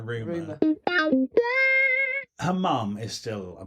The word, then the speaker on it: Rumer: I've never heard it spoken. Oh, it's Rumer. Is that how you pronounce it? Yeah, Rumer.